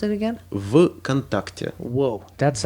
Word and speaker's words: VKontakte: Vkontakte or How do you pronounce it again? Vkontakte.